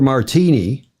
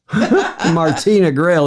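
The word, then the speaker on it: Martina Grael: the of the 12 mispronounced Mar they called her Martini Martina Grail they called her Martini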